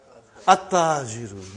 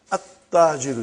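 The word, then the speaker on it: التاجر: At-Tajiru. You did not pronounce Al. You did not pronounce Lam. Okay, you did not pronounce, you skipped it. Okay. At-Tajiru.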